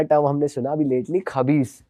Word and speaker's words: खबीस: हमने सुना अभी लेटली, खबीस, कि वो जिन का बच्चा होता है। आप उसको किसी और तरीके से प्रोनाउंस करते हो? खईश। खईश।